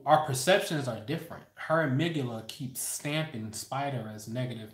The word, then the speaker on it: amygdala: both sides called the amygdala. I call it the Amy G Dala. That's how it's spelled. A-M-Y, Amy, G, as in God and gangster, Dala, like the Dalai Lama.